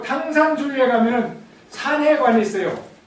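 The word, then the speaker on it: 唐山: 그래서 당산이 된 것입니다 당산은 중국 발음으로는 여적 당산이 탕산 당산은 산입니다 당산은 무슨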